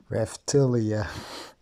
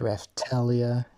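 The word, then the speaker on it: Raphtalia: is not for me raftelia finally pronounce the right because by the video that I posted I I pronounce it wrong reptilia I have my apologies for that so yeah it's ref Talia Philo and yeah kizuna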